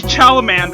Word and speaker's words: Chalamet: I can't pronounce his last name. Timothy Chalamet.